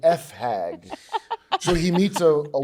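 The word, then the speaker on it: fag hag: for Pride it's uh it rhymes with hag and you rhyme it with a some an F hag so he meets a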